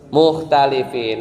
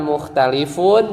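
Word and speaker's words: مختلفين: Mukhtalifin. Lihat aja kalau khobar kan mansub kan? Bacanya bukan mukhtalifun tapi mukhtalifin.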